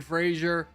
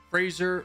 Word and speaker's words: Fraser: a good movie Brendan Frasier Fraser like Razer I can never say his